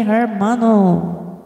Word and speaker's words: hermano: hermano Piat azuro okay hermano an beautiful so lovely Mega love shoutout Yahoo Thank you so much for coming say it like this brother hermano hermano oh hermano silent h silent h hermano hermano Piat azuro